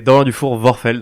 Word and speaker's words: Dufour-Vorfeld: C'est Dorian Dufour Vorfeld. Vorfeld, d'accord. Exactement. J'ai voulu ajouter un accent germanophone, mais en fait, c'est pas... Mais en fait, c'est néerlandais.